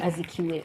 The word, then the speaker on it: Azikiwe: you didn't know, but I mean, I think you still had it right with Nnamdi Azikiwe. Is that the pronunciation? Yes, of the name? Azikiwe. Azikiwe.